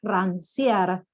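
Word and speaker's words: Rancière: yo les recomiendo que se llama rancia con c se escribe rancier es un pensador que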